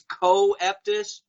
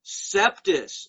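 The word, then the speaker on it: coeptis: as does anui septus which the masons always mispronounce on tv as co-eptis no masons bad masons bad it's septus as incept the sacred star annuit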